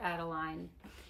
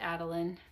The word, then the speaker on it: Adeline: It's Mina Adeline or Adeline. But I pronounce it Adeline, A-D-E-L-I-N-E.